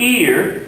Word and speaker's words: ir: The verb ear, pronounced like this thing on the side of your head, ear, means to go.